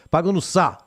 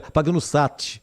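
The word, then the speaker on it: Pagnussat: do s a e T mudo e não se pronuncia paga no sa né para ficar mais chique para no Sá não fala o t paga no Sá Aí fica meio caipira paga no Sat aí fica ruim né paga no s Thiago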